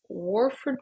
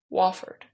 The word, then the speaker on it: Wofford: Point Panthers, Drake Bulldogs, Warford Terriers. I think that's how you pronounce that. Warford? Sure. Wofford? Why do I put an R in there? Wofford. Wofford. Sounds like waffle.